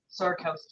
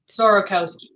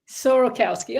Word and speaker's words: Sorokowsky: it up so my first name is sarkowski yeah sir say again sorokowski sorokowski okay I was close and and of course